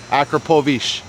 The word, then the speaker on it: Akrapovič: All right, the one and only Akrapovič, or however the hell you say it.